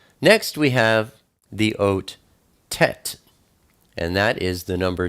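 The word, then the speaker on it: טית: Next we have the oat Tet, and that is the number 9. Tet is pronounced T, like today.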